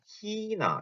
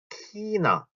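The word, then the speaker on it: China: 자, 희나 이렇게 써요. 희나 중국 희나. 자, 요거에 대한 발음, 츠이하 발음에 대해서 말씀드리면서 이거랑 힘이 이런 얘기도 했을 거예요.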